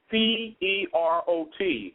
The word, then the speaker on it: Perot: It's like P-E-R-O-T, but it's Perot. Perot, okay, like Ross Perot, sort of like Ross Perot. It's spelled exactly the same.